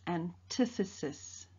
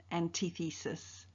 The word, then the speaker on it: antithesis: we shall learn about antithesis write down the term and the definition in your bell ringer book and please take note of the pronunciation of the term its antithesis not antithesis in the glossary of